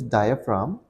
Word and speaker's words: diaphragm: our lungs now what is y y is pronounced as diaphragm and the spelling for it is d i